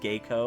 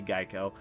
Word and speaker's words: Geiko: Yeah, because Mako and Geico, Even though it's probably pronounced Geiko, I'm gonna say Geico. because Maiko and Geico would play instruments at banquets and sing and dance.